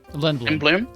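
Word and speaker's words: Lindblum: Wait, is that how you pronounce it? Lindblom?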